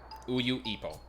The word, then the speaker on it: Uyuipo: So you pronounce UYU by itself. Uyu. Uyuipo.